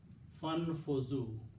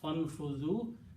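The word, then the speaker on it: فانفذوا: So when you combine fa with that, so or then you don't pronounce this alif here. Fanfuzu. Combine fa with the noon. Fanfuzu.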